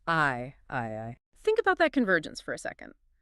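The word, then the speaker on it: 愛: kanji for the word love, which is pronounced I I.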